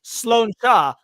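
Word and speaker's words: sláinte: because uh dimsey says it's pronounced sloa Irish gelic for health it's used as a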